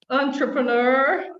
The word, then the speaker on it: entrepreneur: as well entrepreneur entrepreneur there's a there's a schwa um well again yes it comes from french it's really hard to say yeah but we do keep it close to the original french pronunciation entrepreneur entrepreneur and i